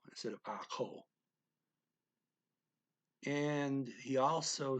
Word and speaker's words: ako: ko instead of akko he just shortened it and uh pronounces the k like an h and ako so he's well the